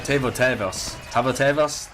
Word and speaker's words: Tavo tëvas: end of the road for poor team uh tavo tavos that's the way to pronounce it and uh they do lose five